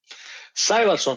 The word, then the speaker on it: Sævarsson: Sævarsson, yeah.